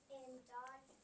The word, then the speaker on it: dodge: In dodge, fudge, and fudge, the D is silent.